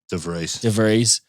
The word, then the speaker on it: De Vries: De Vries.